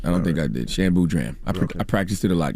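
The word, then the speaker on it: Shan Boodram: Shan Boudram.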